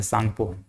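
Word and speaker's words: Tsangpo: कहा जाता है ऐसे, तो सांगपो लिखाता है, लेकिन ये टी साइलेंट रहता है, सांगपो, ये सांगपो बोलते हैं इसको।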